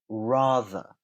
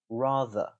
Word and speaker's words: rather: I am going to pronounce the r at the beginning, ra, ra, but the er at the end, I'm not going to pronounce that r. Rather, rather.